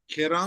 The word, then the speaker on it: ཁྱེད་རང་: Kerang.